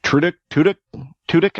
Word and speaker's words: Tudyk: It's Alan Tudyk, I believe that's how you pronounce it. Tudyk is how you pronounce it.